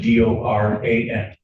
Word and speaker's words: Doran: Spelling on the last name is D-O-R-A-N. And it's pronounced Doran.